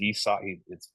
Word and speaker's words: Isaac: And it is Isak. It's spelled Isaac, but it's pronounced Isak.